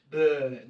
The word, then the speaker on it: Bern: And I was in Bern. And, that's how they say it. Bern.